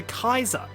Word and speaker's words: Caesar: We usually think of it as being pronounced Caesar, but in Latin it would have actually been pronounced closer to Kaiser.